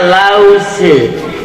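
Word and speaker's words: Lautze: Ditulisnya Laut Tze, dibacanya Lause.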